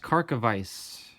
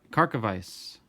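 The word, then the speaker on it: Karkovice: and I was told that his name is pronounced kharkov ice like Miami Vice so Ron carte kharkov ice Dave Henderson to the Mariners Don Robinson of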